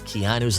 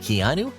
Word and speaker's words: Keanu: cool made it Unforgettable Mis pronouncing your name I was saying kinu or something it's Keanu is that correct is an unusual name